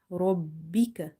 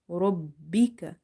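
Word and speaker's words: رَبِّكَ: Whenever you see the shadda sign on top of any letters, try to emphasize on that letter. Because if you don't emphasize or stress upon it, you will end up pronouncing it once. So our goal here is to pronounce it twice.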